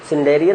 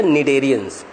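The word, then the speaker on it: cnidarians: Hydra, सिंडेरियन नहीं बेटा, निडेरियंस। हाँ साइलेंट है बेटा, तभी दोनों को हम लोग नीडो नीडो प्रोनाउंस करते हैं ना।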